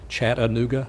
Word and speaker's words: Chattanooga: announcers around the nation how to say the name properly chat aooga and the website of